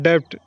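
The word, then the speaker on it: debt: जब company loan लेता है इसको बोलते हैं डेट इसको डीबीटी है लेकिन भी साइलेंट है डेबिट नहीं छोड़ेंगे इस कोड पढेंगे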